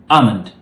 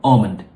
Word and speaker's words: almond: And so this word is almond or almond. So either one is fine by the British. Now the Americans say almond. They pronounce the L.